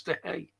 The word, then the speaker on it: De Gea: She said, no, it's De Gea. You don't pronounce the G.